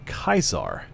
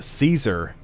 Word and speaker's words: Caesar: make that soft the there's no soft c it doesn't make that s sound that it can make in english and so the the caesar is is not how